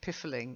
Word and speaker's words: piffling: The only way you get the I sound is if, like in piffling, you've got a double F. Okay, piffling, a piffling matter.